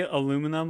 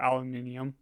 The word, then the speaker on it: aluminium: know like ironic IR irony do you say aluminum of or aluminium aluminium get out get out the difference is